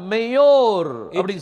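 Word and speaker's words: מאורה: you will find hey அப்ப இதை நீங்க உச்சரிக்கும் போது மேயோரா அப்படின்னு சொல்லி வரும் when you are pronouncing it it is mayor பாருங்க ஒரு வசனத்தை வாசிக்கலாம்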